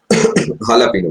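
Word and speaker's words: jalapeño: एक चीज डलती है जिसमें जे आता है और एच के रूप में हम उसे प्रोनाउंस करते है हालापिनो बिल्कुल सही हालापिनो हालापिनो भी कई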